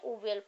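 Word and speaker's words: Aviyal: तो यहाँ पर आपको हेल्प के लिए ब्रैकेट में दिया हुआ, इसको कैसे प्रोनाउंस करना है, ओवियल कहना है इसको, ठीक है।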